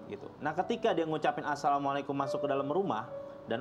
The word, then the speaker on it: Assalamualaikum: nih kalau masuk rumah, Samikum, bahasanya kan, Mikum gitu. Padahal salah dalam pengucapannya dia. Ketika dia masuk ke rumah, dia ucapkan Bismillah, terus dia bilang Assalamualaikum.